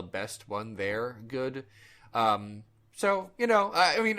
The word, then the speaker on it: Saul: Saul uh although uh in Hungarian Saul is kind of pronounced like so like that I'm I'm I'm still saying it wrong and I'm sorry I